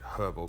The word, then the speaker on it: herbal: all herbal basically and that is the correct way to say it herbal because there's an h in the word um there's uh it